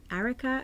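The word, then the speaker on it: Arika: jane richmond called the i don't know how you pronounce it erica a r i a-r-i-k-a erica eureka would you like me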